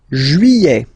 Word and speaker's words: juillet: Juillet. Okay, you get this double L here. Juillet. Don't pronounce this final T, E-T here at the end.